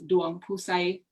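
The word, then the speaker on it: Duangphouxay: it's not yep um my middle name is duan pusay should i spell it it's u a m g p h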